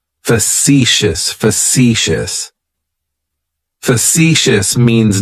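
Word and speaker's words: facetious: describes me as factious fous has three syllables and the stress is on that second syllable it's like you're just saying the letter c for C that first syllable has that schah that uh sound fous fous fous means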